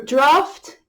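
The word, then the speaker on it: draught: U-G-H-T, ignore the spelling, it's F-T, draft.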